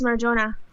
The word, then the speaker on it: Marjona: Am I pronouncing your name correctly? Is it Marjona? Yes, it is Marjona.